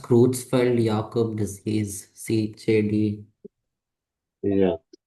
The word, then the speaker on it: Creutzfeldt-Jakob: So it's pronounced Creutzfeldt-Jakob disease, CJD.